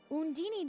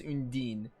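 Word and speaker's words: Undine: they're gonna say undini Tales of games pronounced as Spirits differently like I know Mila from zelia says undeen I'm trying to remember what they say in Symphonia I think Sheena calls it undini as well but they they change up pronunciations a lot but I'll just say in Dean because I prefer to the planes of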